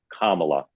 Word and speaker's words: Kamala: as I do everybody it's pronounced Kamala that's right Comm like the punctuation mark thank you all right